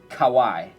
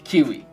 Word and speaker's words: Kawai: says that the awkward moment in assembly when the head teacher pronounces my Chinese English name, Kawai, as Kiwi.